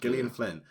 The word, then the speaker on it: Gillian Flynn: Gillian Flynn.